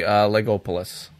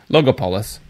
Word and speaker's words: Logopolis: And then finally, Legopolis. Legolopolis. Logopolis.